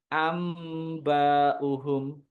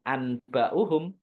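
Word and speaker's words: أنبئهم: Amba'uhum, bukan anba'uhum, tapi ada dengungannya. Amba'uhum.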